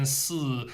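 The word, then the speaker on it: 四: the uh Chinese pronunciation s number four because it sounds like s which means death but s remember s going down s it's not appear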